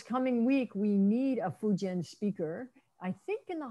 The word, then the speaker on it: Fujian: The newer spelling, the Pinyin spelling is Fujian, but it's all pronounced Fujian.